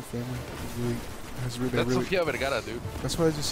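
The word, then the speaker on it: Sofía Vergara: Sofia Vergara.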